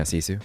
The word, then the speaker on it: Sisu: Yeah, Sisu.